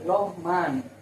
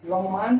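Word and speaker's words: Lohmann: नाम है लो लोहान लोहान स्पेलिंग है एल ओ एच एम ए एन लो मान लो मान इसको बोलेंगे प्रस थ कर लीजिएगा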